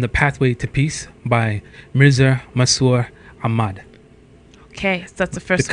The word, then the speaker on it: Mirza Masroor Ahmad: Sir, Mirza Masroor Ahmad.